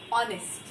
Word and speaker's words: honest: Then here, even though it's H and it's a consonant in the start, the pronunciation is starting with O, honest.